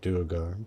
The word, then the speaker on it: Duergar: I pronounce it Duergar, but Okay.